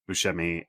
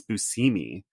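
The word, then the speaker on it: Buscemi: TV show with Steve Bushi and apparently we all have been saying his name wrong all this time and it's busimi and John was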